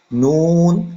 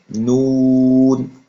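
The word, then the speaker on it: ن: wow Hamza Hamza ইয়া আমি আপনাদের একটা কথা বলি এটা নোট করে রাখবেন নুন এবং ওয়াও এবং পেশের উচ্চারণ এইগুলো উচ্চারণ করার সময় অবশ্যই অবশ্যই আপনার ঠোট গোল করতে হবে নুন তারপর হচ্ছে ওয়াও এগুলো উচ্চারণ করার ক্ষেত্রে আপনার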